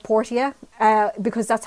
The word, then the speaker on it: Portia: with with the name it is unfortunately called portia uh because that's how they pronounce it in the game and i'm really sad because i've always called it my time of porsche because i think it sounds nicer and it